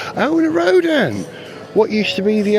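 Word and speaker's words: Rodin: own way with it Rodan I think it's pronounced Rodan rod in it's how it's written if you're well rod in it's not a rod in and this one's decked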